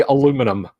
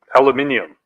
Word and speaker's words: aluminium: wants you to say aluminum aluminium those Australians they put an entire extra syllable in that word down there as my